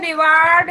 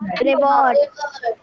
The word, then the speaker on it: reward: बेटा ये रिवार्ड तो है, लेकिन इसका प्रोनाउंसिएशन रिवार्ड नहीं है। Reward। Yes, correct. Ma'am, reward.